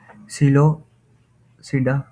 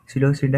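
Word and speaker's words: Psilopsida: फिर है ये सिलोसिडा, ठीक है, पी यहाँ पे साइलेंट है। सिलोसिडा है, लाइकोसिडा है, फिर है स्फिनोसिडा, ये ऐसी ये सारी चीज़ें आपने करके जानी है।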